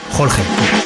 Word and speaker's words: Jorge: La première chose à savoir sur Lorenzo, c'est la bonne prononciation de son prénom. Jorge, Jorge ou simplement Georges. Sachez simplement que les Espagnols, eux, l'appellent Jorge.